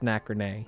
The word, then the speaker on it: Nacrene: Maybe it's pronounced Nacrene, like macrame, but with ins. Ins instead of ims.